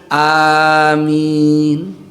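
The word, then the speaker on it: آمين: Al-Fatihah ini, maka lafaz yang benar A-nya dipanjangkan, min-nya pun dipanjangkan amin. Kalau A-nya panjang A, lalu mimnya dibaca pendek, maknanya berimanlah engkau.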